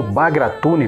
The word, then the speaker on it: Bagratuni: agora da sua inspiração bagrat di ou bagratuni pela pronúncia Armênia foi uma dinastia real